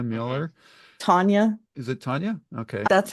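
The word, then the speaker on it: T'Nia: I think the T is silent. Tania Miller. Tanya.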